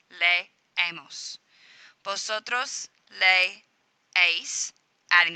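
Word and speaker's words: leemos: of the ending and they are pronounced as two separate syllables lay a MOS posit Rose lay ace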